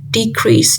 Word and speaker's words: decrease: Decrease. Decrease is a verb and the stress falls on the second syllable.